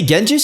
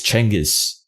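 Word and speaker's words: Chinggis: By the way, Genghis is not the proper pronunciation of his name. The real way you say Genghis Khan's name is Chengiz. That's the way, you know, like the Mongolians pronounce it.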